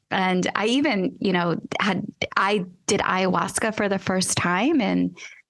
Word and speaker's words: ayahuasca: And the first thing I thought was, did you do ayahuasca, right? That's how you pronounce it.